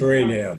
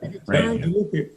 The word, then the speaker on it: Raynham: It's Raynham, yeah. Raynham.